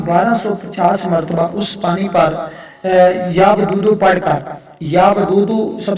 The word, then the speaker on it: یا ودود: یا ودودو نہیں ہے، یا ودودو، واو کے اوپر زبر ہے، یا ودودو۔ میں آپ